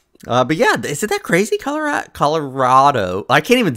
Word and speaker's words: Colorado: it's pronounced Colorado or Colorado. Colorado. She says Colorado. I say Colorado. Not Rado. It's not a T. It's Rado. Rado. Like rad.